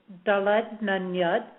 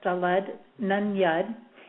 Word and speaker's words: Daled Nun Yud: The way this is pronounced is Daled Nun Yud. Okay, that's Daled Nun Yud.